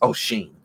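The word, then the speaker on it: Oisín: got the ones like O'Shane, and I believe that's how you pronounce it. That's Irish, even though it looks like it says Oisin. It's O'Shane.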